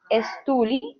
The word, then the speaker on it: stole: Entonces, a thief stole my purse. Stole. La E no se pronuncia. Ok, stole, Es stole stole.